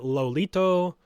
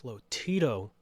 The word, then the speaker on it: Lotito: non-nutritive doctors determined that lolito Lotito it's Lotito so pronouncing the last name wrong I thought it was lolito it's Lotito doctors determined that Lotito